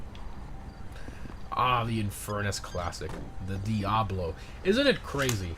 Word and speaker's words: Diablo: And I say Diablo like a gringo, but it is in Spanish it's pronounced Diablo, right?